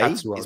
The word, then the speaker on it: Tetsuo: Tatsuo, that's how you say it.